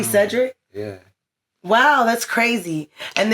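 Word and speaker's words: Sedrick: Yeah, but you don't spell it like Cedric. S E D R I C K. That's crazy. I was actually lowball being funny. And it's really Cedric.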